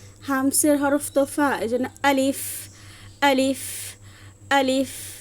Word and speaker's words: الف: এজন্য আলিফ আলিফ আলিফ। দেখেন বাতাস বের হচ্ছে। তাহলে এটা কেন বের হচ্ছে? কারণ আরবি হরফ বারণ করার শেষে আলিফের শেষে হচ্ছে ফা আছে। এজন্য বাতাসটা বের হচ্ছে।